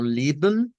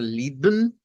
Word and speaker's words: lieben: Puede ser como Lieben con la B, el Shva y la N, puede hacer lieben con la M, lieben, nótese la o puede hacerlo con la N. La última pronunciación nos está diciendo que el Shva, ¿verdad? Se puede omitir, vea que se omite,